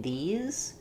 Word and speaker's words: these: a lot of people, the difference between the I vowel in this and the E vowel in these, you're not making enough of a difference, and you might do a vowel sound that's a little in between those two, like this, and you